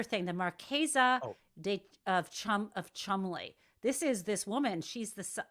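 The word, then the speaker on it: Cholmondeley: She's Rose Hanbury, and she married a much older gentleman, the Marquez of Chumley. Anyway, so apparently there's a big. Chumley? It's spelled.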